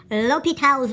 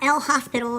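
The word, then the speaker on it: L'Hôpital: to discuss something called l'hopital's rule not el hospital or Hospital on a l'hopital it's French I believe in one of my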